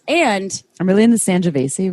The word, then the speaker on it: Sangiovese: And I'm really in the Sangiovese right now. Is that how I say it right? yeah, Sangiovese.